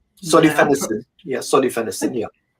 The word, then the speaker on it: solifenacin: Solenos.